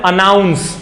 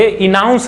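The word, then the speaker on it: announce: Talking about the next, जो पांचवा word है, इसको हम पढ़ते हैं अनाउंस।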